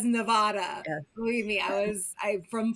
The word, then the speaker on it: Nevada: Nevada. Oh, I'm saying it wrong. It's their state. They get to decide. We get to claim it. That's right. Even though the rest of America says Nevada.